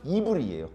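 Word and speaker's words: עברי: 왜 중요한 인물이냐 하면 우리가 히브리라고 말했을 때 원문은 이브리예요. 이브리. 그래서 그 글자는 과거 성경에는 모음이 없었거든요.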